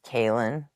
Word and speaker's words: Caelan: And my daughter's name is Kaylin, but it's spelled Caelan, which is actually a boy's name.